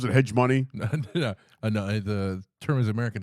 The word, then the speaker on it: hegemony: Top Gun and people bitching about it because it, like, shows American, how do you pronounce it? Hegemony? No, the term is American hegemony.